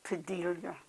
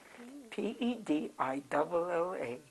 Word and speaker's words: Padilla: Padilla, Pedilla. And double L is pronounced Y.